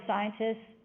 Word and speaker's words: scientist: you say the word scientist you stop there you don't put the t on the very end and so when the